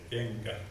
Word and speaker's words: kenkä: We say otampa, but we spell NP, and we say kenkä with eng sound, but it's spelled with NK.